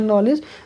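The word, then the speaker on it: knowledge: कहते हो ना जनरल नॉलेज जनरल साइंस बोलते हो तो नॉलेज में क्या हो गया केस साइलेंट हो गया और दी साइलेंट हो गया क्लियर टेक्स्ट अब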